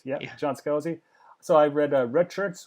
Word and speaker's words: Scalzi: Is that how you pronounce his last name? Help me out there. Scalzi? Yeah, Yeah. John Scalzi.